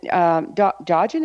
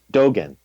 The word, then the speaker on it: Dogen: And Dogin, is that the way you say his name? Dogen. Dogen, thank you.